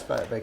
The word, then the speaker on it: Vicarius: How would you pronounce Vicarius? Well, in Hebrew it sounds a bit differently. It's Vicarius.